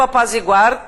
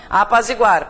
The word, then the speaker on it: apazigua: Gente, a pronúncia forte está aqui, tá? Não apazigua, né? Apazigua. É bom, aqui a sugestão é que você sublinhe a sílaba tônica, né?